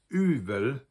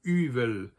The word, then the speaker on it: yfel: So, if you have a fff in between two vowels that tends to get softened to probably more like a V sound, but that's up to